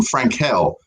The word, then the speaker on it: Frankel: be your step-in host frank hell is actually how you pronounce my name uh let's bring him